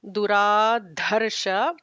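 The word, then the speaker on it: दुराधर्ष: Anuttamo Duradharsha. First the is a regular the second the is a Mahaprana dha.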